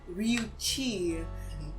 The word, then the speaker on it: Ryuchii: The name I given this character was Ryuchi, and that's Chi. That's spelled Ryuchii.